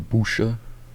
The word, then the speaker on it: Buhll: the Buhll, yeah, the Buhll Isles. Not bull like, you know, bovine. It's spelled a little funny.